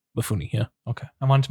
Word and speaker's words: Mifune: Mifune, yeah.